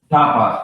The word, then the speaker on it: Tapas: This Tapas, is that how you pronounce the website? Tapas, yeah.